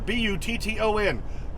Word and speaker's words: button: two T's in there b u t t o n button pronounce the t's button or they'll say